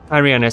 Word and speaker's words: Tyranus: is also known as Darth tyranus or tyrannis tyrannis that's how you say it let me jump